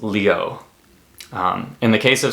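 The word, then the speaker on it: Liu: you see L IU that is a very common Chinese last name that is pronounced Leo um in the case of someone like Lucy Lou I regret to inform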